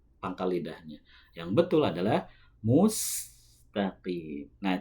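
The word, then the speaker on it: المستقيم: Nah, caranya ketika setelah membunyikan huruf mim yang berharakat dhammah, ketika memoncongkan bibir, langsung ketika membaca huruf sin harus ditarik terlebih dahulu. Mustaqim. Mustaqim. Supaya huruf sinnya itu tidak terbaca shad.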